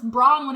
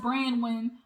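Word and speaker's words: Bronwyn: the girl brown when i thought it was brawn when at first but it's pronounced bran when bran win i guess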